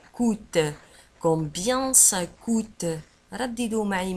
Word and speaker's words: coûte: ولاحظوا على أن coûte تكتب بC O U chapeau T E وتنطق coûte.